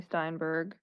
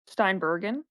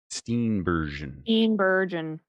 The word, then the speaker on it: Steenburgen: I also love Mary Steinbergen. Steenburgen. Steenburgen. Sure. Yeah, Love she her. was But the she can't pronounce her name apparently.